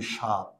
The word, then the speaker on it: স্বাদ: আর অন্তঃস্থ ব হচ্ছে, আমি যদি এখন বলি স্বাধীন, কিংবা আমি যদি বলি স্বাদ, এখানে ব আছে কিন্তু বয়ের উচ্চারণ হয় না।